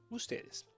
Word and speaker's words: usted: Preste atenção na pronúncia. Usted, ustedes, tá? Singular, segura esse D final e aqui pode falar um pouco mais o D e esse, tá bom?